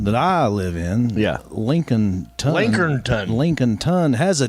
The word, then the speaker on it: Lincolnton: Lincolnon. Lincolnington. Lincoln Ton has a T in it, but it's it's pronounced Lincoln L.